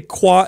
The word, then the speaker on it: Quah: Now, Quah is just us pronouncing the word Q&A, and we'll pick our favorite questions and we'll answer them.